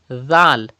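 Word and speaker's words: ذال: softly do not read if you say that means you are reading zah it is not zah it is zal and zal is pronounced without whistle softly so you have to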